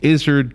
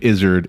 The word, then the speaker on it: Izard: So it's like the word lizard without the L, but add a Z.